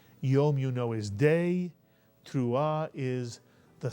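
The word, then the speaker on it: תרועה: by the he which is silent at the end of a word ah put the word together and you get tra or tra mitsu and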